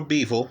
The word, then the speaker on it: Bivol: example right he's kidding himself let me continue bevel or beavel as it's more accurately pronounced we'll forget the dwyer pronunciation here is